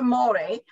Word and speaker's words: Thermore: So the Thermore batting, it's actually pronounced Thermore, but it was originally designed for clothing and miniatures.